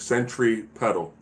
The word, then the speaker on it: centripetal: I verbally say that centripetal, like centripetal. All right, so pedal, but it's pronounced centripetal force. But I say pedal, so Petal, centripetal force, as opposed to centrifugal